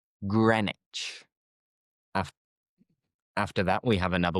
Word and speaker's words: Greenwich: how it is spelled, you would think green witch. A green witch. But no, forget the W. And the green is used with a short vowel sound. So it is grren. Grenwich. Greenwich. Grenwich.